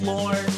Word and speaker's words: Lorne: His name rhymes with porn. You guessed it, it's Lorne.